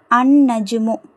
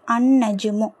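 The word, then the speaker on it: النجم: இதை இந்த நாலு லெட்டர்ல நாலு இஸ்முல பாருங்க அன்நஜுமு அன்நஜுமு லாம் இல்ல டைரக்டா அலிப் வந்து நூனோட இணைக்கப்படுது அன்னஜுமு அடுத்தது பாருங்க அதே மாதிரி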